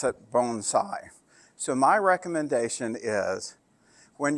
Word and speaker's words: bonsai: And by the way, in the US, we pronounce it bonsai. In Japan, they pronounce it bonsai.